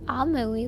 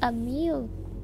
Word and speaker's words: Amelie: This is for the college Amelie wants to go to. Amelie? That's how you say her name? I thought it was a meal.